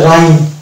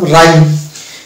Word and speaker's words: rhyme: যেমন RHYME এর উচ্চারণ হবে রাইম, অর্থাৎ এইচ কে টোটালি বাদ দিয়ে শুধু আর দিয়ে উচ্চারণ করলাম রাইম।